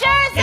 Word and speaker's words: Scherzinger: It's pronounced Scherzinger.